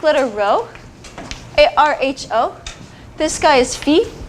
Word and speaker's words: phi: sorority or fraternity names you call it Phi but mathematicians have adopted the British pronunciation which is feet so we'll call it feet we just one more